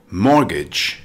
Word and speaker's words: mortgage: How to pronounce mortgage. Mortgage. It's a noun with two syllables. Stress the first syllable. It's pronounced mortgage. Note, the T in mortgage is silent.